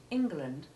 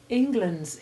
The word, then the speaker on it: England: course is all about the initial e in these words has none of the short e sounds we've been practicing it obviously can't be short e2 or short e3 because of its heavy stress but it isn't short e1 either it is unique having the full short i sound of the first letter in ingle which is an old